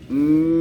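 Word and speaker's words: ميم: যে শুকনো যে জায়গা এই জায়গা থেকে মিম উচ্চারণ করতে হয় মিম মিম এই ঠোঁট না লাগায়ে মিমটা বলেন তো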